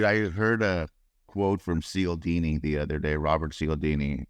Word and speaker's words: Cialdini: Dude, I heard a quote from Cialdini the other day, Robert Cialdini, author of...